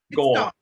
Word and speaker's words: Gaul: Is it Gaul? Gaul. Yeah. Oh, yeah. Yeah. 1 syllable.